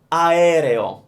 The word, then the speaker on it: aereo: Aereo. Aereo. So here's the sounds. A, E, re, o. 4 sounds.